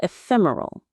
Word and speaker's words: ephemeral: solitude can sometimes feel ephemeral. Let's practice that beautiful word one last time. Ephemeral. Ephemeral. The stress is on the second syllable.